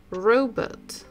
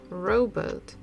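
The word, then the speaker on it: робот: the tricky one because in English it makes sound P letter P but in Russian if we compare the picture we'll just look at the picture we know that this is a robot robot so in Russian language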